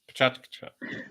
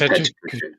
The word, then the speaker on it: PechaKucha: Pronounced Pachachkacha. Oh, I just messed it up. Anyway. It's the Pechakucha, folks. It's Pechakucha. Yeah, it's just Pechakucha.